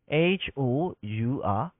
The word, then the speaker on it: hour: hu belo twat le hour hour okay hour လို့ထွက်တဲ့အတွက်ကြောင့်မလို့တဲ့ဒီဘက်မှာကျွန်တော်ပြန်ရေးလိုက်မယ်နော်မြင်အောင် hour hour လို့ထွက်တဲ့ကြောင့်မလို့ကျွန်တော်က hour လို့ထည့်မှာလား an hour လို့ထည့်မှာလား hour h then the silent letter ဖြစ်နေတယ်ဒီမှာဒီ h ကဒီ h